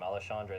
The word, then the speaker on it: Alexandre: wonderful Brandon Royal challenges alandre Pantoja I learned how to say his name Alexandre that's one of the only names I've ever struggled to say in my entire life Al Andre panta the cannibal